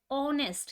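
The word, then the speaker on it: honest: महत्वपूर्ण क्या है कि उच्चारण की प्रथम ध्वनि क्या है। यहाँ पे देखो, एन ऑनेस्ट, यहाँ पे एच है, ठीक है ना, लेकिन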